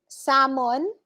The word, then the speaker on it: salmon: sword cloth arctic tuition salmon silent l once again silent l photograph remember